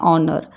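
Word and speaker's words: honour: जैसे कि ghost ऑनर इसमें एच को साइलेंट रख के हम क्या बोलते हैं ऑनर एक एंकर ठीक है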